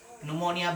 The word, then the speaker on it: pneumonia: dari sisi medis itu pneumonia berat monia gitu jadi bahkan roket ya paru-paru rupa rubasa tulisannya pneumonia dasar bacanya Pneumonia Hai dan bukan gejala